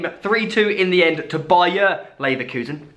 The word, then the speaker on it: Bayer Leverkusen: But we did watch an insane game, 3-2 in the end to Bayer Leverkusen. Football Twitter absolutely rinsing me because I said Bayern Leverkusen.